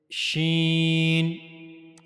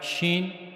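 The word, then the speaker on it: شين: So for pronouncing shen you have to use the middle of the tongue. This is the middle of the tongue and it will meet to the root roof of the mouth.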